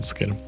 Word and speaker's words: Sequeira: On my turn, I play the Exotic Orchard, that's how you pronounce it, Sequeira, and cast a Deathrite Shaman before passing.